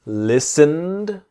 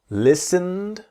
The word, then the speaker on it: listened: study the pronunciation slowly listened so the T is silent listened and we imagine that the e so the T and E in listened our silences listened listened listened not listen Ed listened speak mouth open